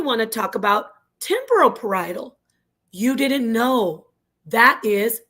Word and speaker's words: parietal: Parietal, not parietal, not parietally, not parallel. It's parietal.